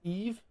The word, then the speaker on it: Evis: How to pronounce this? Eve. It's pronounced Eve?